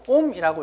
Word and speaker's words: 옴: 자, 이렇게 쓰고 옴이라고 읽어요. 사람 이름이야.